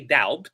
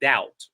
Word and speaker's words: doubt: So you have doubt. We don't say doubt. We say doubt, right? Doubt.